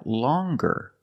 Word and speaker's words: longer: but then you have longer where we have the hard G sound longer with a